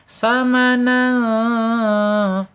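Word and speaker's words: ثمنا: ya bihi tsa tsamanan tsa awas ingat tsa jangan sa ya tsamanan tanwin ketemu huruf qf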